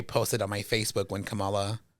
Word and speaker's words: Kamala: I stand by what I said because I remember I posted on my Facebook when Kamala Kamala lost. Um Kamala Kamala I always say it wrong.